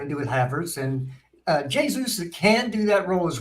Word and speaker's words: Jesus: Is it Jesus or Jesus? It's Jesus. It's Jesus. Okay. I'll ask Jessica. It's Portuguese. It's Jesus.